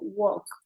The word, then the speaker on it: walk: Suena como una O y no le suena la L. Entonces yo digo, walk.